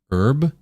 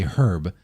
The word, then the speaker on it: herb: Are you aware of the H in the word herb? The fact that you're pronouncing it is actually wrong. You were not supposed to say herb.